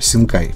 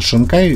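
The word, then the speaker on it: 新海: Фиксируем сит и пишем теперь не видю, а, допустим, макота Синкай. Пишется шинкай, говорится синкай.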